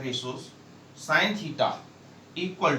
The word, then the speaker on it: sin: पहला है साइन theta, सिन मत बोल देना बेटा, SIN, सिन नहीं बोला जाता है, SIN साइन बोला जाता है।